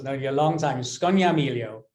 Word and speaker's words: Scognamiglio: Scognamiglio. Scognamiglio. What a beautiful name. Don't pronounce the G's, and it rolls off the tongue.